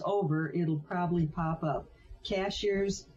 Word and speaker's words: Cashiers: it'll probably pop up cashiers is the name of a town here in North Carolina but it's spelled like a cashier at the grocery store um under editor